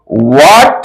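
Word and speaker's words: what: ज याद रखिएगा करते डब् H eighty double H eighty को हम लोग वाट बोलेंगे वाट बोलेंगे क्यों य सारा वर्ड में ए साइलेंट होता है एच का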